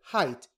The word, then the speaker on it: height: weight freight rain height notice that height is an irregular pronunciation that does not follow this rule height bill is eight